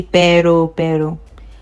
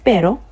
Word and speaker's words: pero: Pero, you see how I'm pronouncing this one? Not the way we say pero. a bit more spicy. Pero, okay, pero, can you try it one more time?